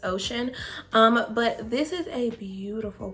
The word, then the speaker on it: Oceane: So this is Zoya Oceane or Oceane. I'm not sure. I'm pretty sure the E is silent. It's just Oceane.